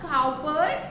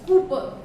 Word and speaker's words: Cowper: It's not Cowper, it's Cooper. Okay? It was the poet's choice that this word should be pronounced as Cooper.